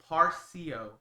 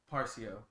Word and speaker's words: Parsio: since I've known you parsio that's how you say it oh it's not it doesn't have to be so forced but yeah but parsia parsio and how does it spell p-a-r-s-i-o yeah I see that